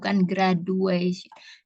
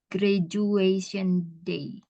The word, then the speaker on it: graduation: Bukan graduation. Jadi tulisannya memang kan D ya, tapi bacanya J. Graduation day. Oh, graduation. Bukan D ya, J.